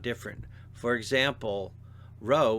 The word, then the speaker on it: rho: For example, rho looks like P but is pronounced R.